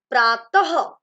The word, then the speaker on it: प्रातः: विसर्ग को हम लिखते दो बिंदियों के रूप में है, लेकिन उसका उच्चारण कैसे होता है, ह के रूप में। जैसे प्रातः, विसर्ग का उच्चारण हमने कैसे किया, ह के रूप में।